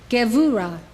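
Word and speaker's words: גבורה: This is how they are pronounced. These 9 Sphirot emanate from Keter. Chokhmah, wisdom. Binah, understanding. Chesed, love. Gevurah, power.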